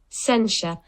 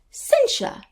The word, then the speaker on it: censure: I learnt how to pronounce Censure. Censure.